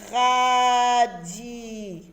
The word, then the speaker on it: radis: Alors ici, le S que vous voyez là, ce n'est pas un S de pluriel. C'est un S qui s'écrit dans le mot radis. C'est un mot qui ne change pas. Il est invariable. Il s'écrit toujours R-A-D-I-S. C'est une lettre muette, mais elle s'écrit toujours dans le mot.